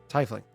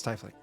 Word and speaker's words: tiefling: cares okay it's like Scott pronouncing tiefling wrong tiffling it's typhling literally cycling you know and the latest